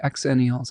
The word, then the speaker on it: Xennials: Zennials are closer to Gen Z. Xennials are closer to Gen X. They're both pronounced the same.